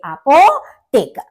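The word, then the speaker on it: Apotheker: पोटेकर यानी pharmacist pharmacist आपने यहां पर भी देखा था कि एच है एच की साउंड हमारी साइलेंट है तो इसलिए अपोटेक नेक्स्ट है आपका नार्ट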